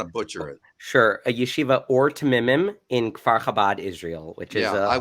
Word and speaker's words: Yeshiva Ohr Tmimim: ethics at i'm sorry can i can you pronounce that correctly i don't want to butcher it sure a yeshiva or to mimim in israel which is a little village that